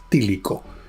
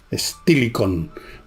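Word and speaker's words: Estilicón: generales que se llamaba sílico sílico estilicon se puede pronunciar según si se habla en latín en inglés castell sílico este hombre fue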